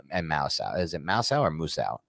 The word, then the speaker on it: Muasau: Is it Muasau or Musau? How do you pronounce that guy's name? Darius Muasau? Muasau. Yeah, Muasau.